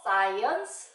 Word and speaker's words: science: SC로 시작하는 단어 중에는 스크 소리가 안 나고, 네, 스 소리가 나는 단어들이 있었죠. Science, scientist, 이런 글자들 말이에요.